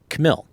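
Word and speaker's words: Khmil: Uh her last name is spelled K H M I L. She pron she performs just under the name Vitalia. And you'll hear, you know, we chatted a little bit about this before we got rolling in the interview. U but she pronounces it Camil.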